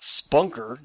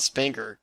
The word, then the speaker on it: Spanker: is called the spanker pronounced spunker not spanker dude where'd you get